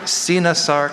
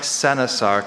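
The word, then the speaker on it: coenosarc: Okay, could you repeat those pronunciations one more time? Sinasark, Senasark, and Sinosark.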